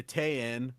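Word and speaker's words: 店員: I know it's like spelled like Tenin, but there's this like weird thing in Japanese where if you have like an n coming before an in, then that like gets thrown to the back, and it's almost like you have a long e sound. So instead of in, we say tein. Tein.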